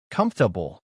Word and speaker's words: comfortable: Reading a word like comfortable might leave you puzzled. Where is that our sound? But when you hear it comfortable, you learn how it's really said.